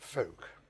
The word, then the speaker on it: Fowke: call it who but it's folk um f-o-w-k-e and i won't go